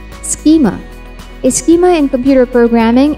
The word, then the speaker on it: schema: of an inference rule for artificial intelligence computing pronounce this as schema and not schema or schema souza a german-based multinational open source